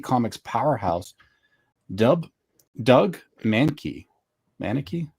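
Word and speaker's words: Mahnke: Manaki. How do you say that, guys? Mankey.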